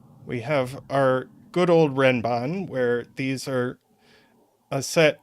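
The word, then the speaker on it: renban: it renbon is is because it's from Japanese and that's how it's pronounced in Japanese uh it's very respectful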